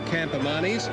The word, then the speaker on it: Campamanis: It is Campamanis, and Campamanis was a champion Spanish chess player, so that's how he got his name.